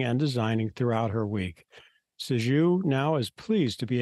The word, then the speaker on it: Sixu: Sixu. Okay. Yeah, Sixu. Sixu lives in a beautiful Seattle, Washington, with her lovely bichon dog.